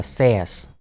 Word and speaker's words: says: Says, chúng ta đọc từ này là says. Says. Kaspersky. Kaspersky. Nó hơi đặc biệt ha. Từ này á, nó đọc là say, nhưng mà thêm s và nó đọc là says.